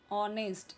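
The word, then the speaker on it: honest: ऑनेस्ट यहां पे H silent है।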